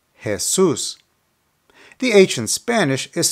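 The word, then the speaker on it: Jesús: first one is Jesus because the accent is over the U the pronunciation is Jesus Jesus the ancient Spanish is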